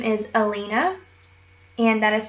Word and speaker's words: Halina: this character's name is Alina and that is spelled h a l i n a it's polish for light and I'm pronouncing it in the French way um which H are